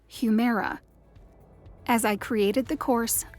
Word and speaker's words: Humira: to pronounce something that looked like humira but was pronounced humera as i created the